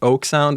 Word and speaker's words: oeksound: it that way I it's not a problem to browse it as oak sound as the tree oak right but I think